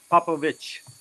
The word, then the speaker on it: Popovich: Popovich with a ch. With a ch like chicken.